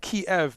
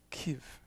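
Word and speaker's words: Kyiv: you know rich i i used to say that kiev but someone told me from there that's i can't really say it right but it's more like that kiev different consonants um that's great kurt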